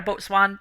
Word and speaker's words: boatswain: You had a boatswain, turned out to be a Yeah, shape-shifting monstrosity. You no longer have a boatswain or right. That's swain. I'm not actually sure how it's pronounced. I've Bosun.